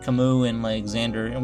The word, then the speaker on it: Camus: calm cameras but then we found out there how to actually say his name and that was Camus that's how you say